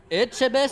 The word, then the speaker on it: Etchebest: Comment ça se prononce? Etchebetch? Etchebest ou Estebetch? Etchebest Ouais, ou ça pouvait être Estebetch, je sais Jean-Pierre pas du Coff, tout.